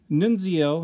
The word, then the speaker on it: Nunzio: So, Nunzio, I think that's how you pronounce it, N-U-N-Z-I-O, Nunzio, Nunzio, came with Courtroom Battle Peter and Tony, Nunzio and Tony.